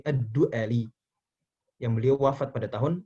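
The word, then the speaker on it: ad-Du'ali: Aswad ad-duali rohimahulloh tahan ini bacanya Abul Aswad Bukan ad-duali tapi edly yang beliau wafat pada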